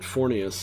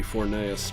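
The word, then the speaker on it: Forneus: die don't you uh they pronounced it fornius in this uh game I don't know I'm pretty sure it's actually supposed to be fornaeus but whatever I screwed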